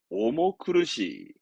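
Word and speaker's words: 重苦しい: 그래서 발음은 오모크르시.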